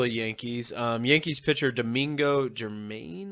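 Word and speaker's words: Germán: Yankees pitcher Domingo Germain, I think is how you say his name. Do you know? Yeah, Hermain, Hermain, one of yeah.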